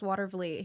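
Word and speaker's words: Watervliet: Here's how you pronounce watervete.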